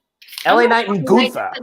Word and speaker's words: Gunther: It's Gunther? Gunther. Put some respect on that name. I've been saying it right.